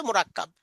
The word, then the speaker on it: মুরাক্কাব: পেঁচানো লেখাকে আরবিতে বলে মোরাক্কাব। মুরাক্কাব। এটা বলে এখানে বানান করাবেন, মিম র কাফ বা। মিম কাহবা টান দিবেন মুরাক্কাব মিম র কাফ বা মিম রা কাফ বা মুরাক্কাব মুরাক্কাব মুরাক্কাব শব্দটা কয়েকবার মাস করাবেন মুরাক্কাব।